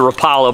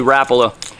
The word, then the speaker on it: Rapala: A lot of people down in this part of the country pronounce it Rapala, but it's actually Rapala.